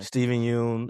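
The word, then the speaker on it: Steven Yeun: the three biggest obviously Matt Den and then Steven win or I don't know how to say his name Steven Yun uh Tiana Taylor who was we we got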